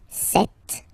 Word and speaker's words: cet: So you can notice that phonetically these two are pronounced the same way.